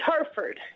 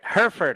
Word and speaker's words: Hereford: very well thank you did i pronounce that correctly it's harford i knew it darn it hereford i'm sorry it was i was multiple choice and i got it wrong that's okay i'm about